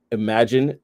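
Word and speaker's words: Imagen: Imagine 2, which is spelled Imagine, Gen 2.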